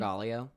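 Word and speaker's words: Margaglio: Barbara Fousar Poli and her partner Maritzio, how do you pronounce his last name? Margallio. Margalio.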